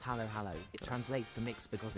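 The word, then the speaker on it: halo-halo: This one called halo halo pronounced halo halo.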